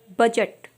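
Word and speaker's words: budget: सबसे पहला हमारा वर्ड है बजट, ब्रिज, मिजट।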